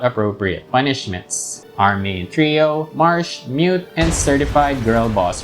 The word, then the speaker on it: Marche: I found this Reddit thread and most folks there pronounce it like the word marsh, which is also how I've always pronounced it.